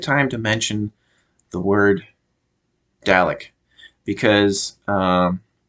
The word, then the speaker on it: Dalek: to mention the word Dalek because um the way they say it in the show is Dalek thank you and so